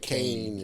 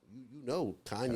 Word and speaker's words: Kanye: I used to say it wrong. You say like Kane and stuff like that. But now, Kanye is Kanye.